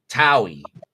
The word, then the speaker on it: Towie: Oh, Towie. So it's Towie. It's like Howie.